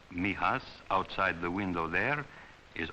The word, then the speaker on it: Mijas: It is pronounced mias for most of my boys. Mihas outside the window there is almost the only part of Spain they will ever get to know.